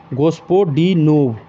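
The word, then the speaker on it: Господинов: तो जॉर्जी गोस्टपोडिनोव। नाम भी ऐसा है ना, प्रोनाउंसिएशन करने में भी दिक्कत हो जाता है। गोस्पोडिनोव।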